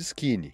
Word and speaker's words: skene: produzidos pelas glândulas de skin se escreve s k e n e Skin Essas são glândulas que